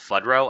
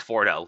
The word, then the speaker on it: Fordo: The I keep wanting to mispronounce Fudro. I don't know why I'm doing that. I know it's Foro.